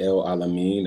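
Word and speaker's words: El Alamin: headphones okay cool well my name is L alamine that's spelled l e o n last name is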